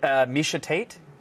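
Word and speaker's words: Miesha Tate: And Misha Tate? If you pronounced it wrong, I would have loved that, but you actually pronounced it right.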